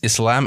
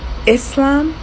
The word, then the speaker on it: Islam: in the previous video somebody commented that I was pronouncing Islam and Muslim wrong cuz I was using a z sound instead of a so a soft s and I don't know